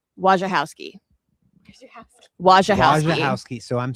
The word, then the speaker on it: Wojciechowski: direct reported to him, it's like run together, where's your house key? Wojciechowski.